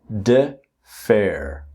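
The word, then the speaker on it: defer: Now the pronunciation here is defair. Defair.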